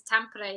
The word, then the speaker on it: Tampere: You're in Tampere, Finland. Did I pronounce that right, or have I butchered that? Yeah, it's Tampere, yeah.